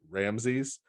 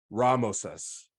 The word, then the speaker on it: Ramses: Ramses even though it's pronounced differently right we pronounce it Ramses is actually Ramos us it's ra or Rey the sun god Moses's